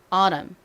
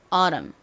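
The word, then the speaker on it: autumn: 제가 전에도 설명드렸던 것처럼 미국 사람들은요 특히이 t 발음을요 리을로 발음을 하는 경우가 상당히 많아요 그래서 이거를 아참 이렇게 발음을 하지 않고 아람 아람 이렇게 꼭 얼음 리을 마냥 발음을 하는 경우가 많습니다 자 저희 한번 미국식으로 리을 발음 넣어서 좀 발음해 볼까요 그리고 강세가 굉장히 중요한데 앞쪽을 강조해 주셔야 됩니다 따라해 보세요 아람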